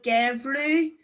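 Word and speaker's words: geimhreadh: If you look at the end of gevru and sauru, ADH is pronounced like a U fada.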